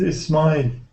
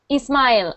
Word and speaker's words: Ismail: Hello, Ismail. Hello, Lauren. Am I saying your name correctly? Yes. Can you say your name? My name is Ismail. Ismail. Okay, so I am saying it correctly.